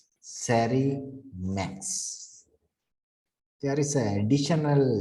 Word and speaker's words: SARIMAX: model implementation right the model implementation is called sari max there is an additional letter this x that's